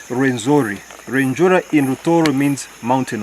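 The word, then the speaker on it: Rwenzori: after their queen Margarita, they couldn't pronounce Renjura. So they called it Renzori.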